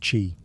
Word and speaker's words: qi: the flow of energy, or qi, pronounced qi.